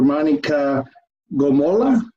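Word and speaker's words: Monika Gommolla: Monica Gomola, is that how it's pronounced?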